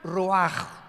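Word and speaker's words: רוח: Es la palabra se escribe roach, como suena con rúl ch al final roach y se pronuncia roaj.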